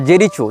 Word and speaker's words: जेरिको: लेकिन इजराइल हो या फ़लस्तीन हो, इसने जेरिको या जेरिचो, जो भी इसका उच्चारण भाषा में किया जाता है, JERICHO, जेरिचो या जेरिको, जहाँ तक जेरिको होना चाहिए उच्चारण, ये फ़लस्तीन का प्रांत